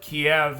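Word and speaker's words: Kyiv: used to call it kiev and that's the russian pronunciation of it and keeve is the ukrainian pronunciation so out of respect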